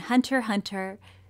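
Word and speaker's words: Hunter × Hunter: and I'm and Hunter hunter the X is silent I kind of forgot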